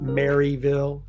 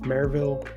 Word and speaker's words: Maryville: make sure you understand it's not Maryville it's marille and Tennessee has that problem of not being able to pronounce all the letters in a specific City it's all across the the whole state it's not just marville so as we're looking